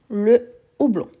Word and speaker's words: houblon: Houblon, c'est un H aspiré, le houblon.